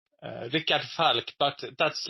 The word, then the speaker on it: Rikard: Your name is Ricard. That is the right pronunciation?